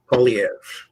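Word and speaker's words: Poilievre: Polyev. That's how you say it. Well, that sounds like a disease. Polyev disease. Polyev, like polio, but Polio. Fancier.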